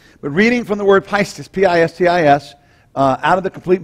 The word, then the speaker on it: pistis: The Greek term pistis am I pronouncing that right, Bill? Pistis.